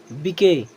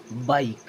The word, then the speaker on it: bike: चलिए अब यहाँ भी LIKE क्या पढ़ेंगे, लिके, बिके, हिके, निके, नहीं ये बिल्कुल गलत है। अब इसे पढ़ना क्या है, अगर आई है और लास्ट में क्या है ई आ रहा है तब भी उसका उच्चारण पूरे आई की तरह ही करना है।